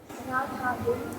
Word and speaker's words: राधा: देव प्रभा महोदय वतु राधा राधाम राधा द और ध का उच्चारण मिलना नहीं चाहिए। ध महाप्राण है उसको वैसे ही बोलिए।